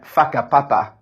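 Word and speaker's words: Whakapapa: traditional SEL um so these are ones the other townships that you are supposed to say in this way fakan and faka papa so hopefully they were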